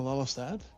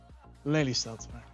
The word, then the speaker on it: Lelystad: If we either continue to Hilversum or we go back to Lelystad. Yeah, sorry, but butchering the English pronunciation there. Lelystad, there we go.